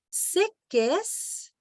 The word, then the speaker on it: qu'est-ce: On ne prononce pas la lettre E. Alors, c'est qu'est-ce?